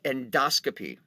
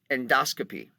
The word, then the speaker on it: endoscopy: on end we have endoscopy now note the pronunciation endoscope endoscopy just the way it works in medical terminology you'll get used to it it is not an endoscopy although people will say that an endoscopy of course